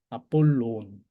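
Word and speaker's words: Ἀπόλλων: 그 다음에 이제 아폴론. 이제 로는 조금 길게 발음하시고 앞에 오미크론은 좀 짧게 아폴론 이렇게 발음하셔야 됩니다.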